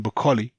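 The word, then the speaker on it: Okolie: think I might according bakkali that's how you pronounce Lawrence Akalis name by the way I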